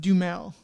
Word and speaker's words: Duhamel: It's pronounced Dumel.